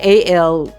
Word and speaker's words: allele: pronounce this word okay i think it's allele and then with an s alleles okay if those two